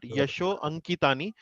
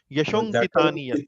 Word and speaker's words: यशोऽङ्कितानि यत्: So not Yasho Ankitani, Yashonkitaniat.